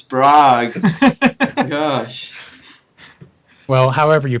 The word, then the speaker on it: Prague: It's Prague. Gosh. Well, however you pronounce it, thank you all for coming on the Badgercast.